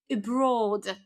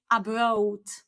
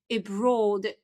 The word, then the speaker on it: abroad: is when people say abroad. Okay? So, they say a at the beginning and also say broad with this w inside. Okay? And this is simply abroad abroad.